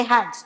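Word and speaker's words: אחד: A palavra único é a palavra Errad, se escreve Echad, mas se fala Errad.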